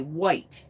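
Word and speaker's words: Wight: His wife in that photograph, she is a White, and it's spelled W-I-G-H-T.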